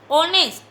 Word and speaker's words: honest: Honest. Starting with consonant, but sound is vowel sound, that's why we will use N. H will be silent and pronunciation is honest, that's why we are using N.